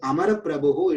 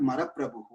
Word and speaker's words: Amara Prabhu: This is not the right way to say. It is Amara Prabhu, it is not Mara Prabhu.